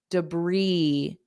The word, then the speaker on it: debris: da debris debris Bri so there's no s on it at all and the vowel sound is e not i e debris briis and the first sound is unstressed so it's du du debris debris The Crew removed